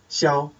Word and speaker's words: Xiao: Both of my names are pronounced in first tone, like this. Xiao.